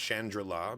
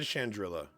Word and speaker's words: Chandrila: I think it's actually supposed to be pronounced Chandrila because I think it's supposed to be like a play on Shangri-La. But I've always said Chandrila, and I'm going to